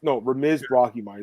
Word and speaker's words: Ramiz Brahimaj: I think Ramiz Brahimaj. That's how you pronounce it. So I got it right now.